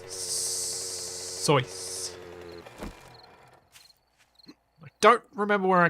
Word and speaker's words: Seuss: as bison said uh most people do tr pronounce seuss to rhyme with juice but that's not correct as per the man himself it was source i don't remember where